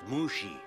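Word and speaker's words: Mushi: before mr lee and mr uh mushy is it it's pronounced mushy your beauty is intoxicating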